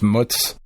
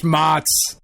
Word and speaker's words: mozzarella: Pronounced mutz. Well, fresh mutz. The mozzarella. I'm American, goddammit. I bastardize the words that I say. That's right. Some fresh mozz.